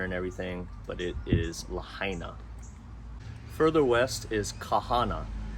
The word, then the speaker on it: Lahaina: the oldest it's Lahaina I've heard this pronounced lahina it's not it's Lahaina and it's an old